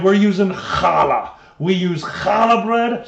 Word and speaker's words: challah: Challah. There, you're close. More with the diaphragm. You gotta, if you say challah right and you're pregnant, you should cough up the baby. That's how you know you're saying it right.